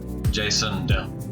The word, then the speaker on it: Jasond: There's a D at the end of his first name. Jason De, not Derula.